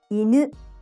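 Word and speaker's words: 犬: Inu, dog. Inu, inu, low and high.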